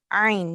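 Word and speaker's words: ع: So do we pronounce it from our throat or not? Yes. Yes. So make sure that whenever you find an Ain, we pronounce it from the middle of our throat.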